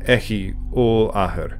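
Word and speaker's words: Eochaid Ollathair: One of the most used names for the Dagda is Echith Ul-Athir, or Echi Ul-Athir in modern pronunciation, meaning Horseman Great Father.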